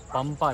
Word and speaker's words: Pampa: में जो रिवर है पंपा रिवर, या फिर इसको प्रोनाउंस कर सकते हैं पंबा रिवर के नाम से। तो PAMPA पंपा भी नाम है और PAMBA पंबा भी नाम है।